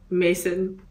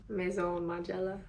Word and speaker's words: Maison Margiela: My brain chemistry altered, so I've never said Mason ever since. So how do you say it? Maison Margiela.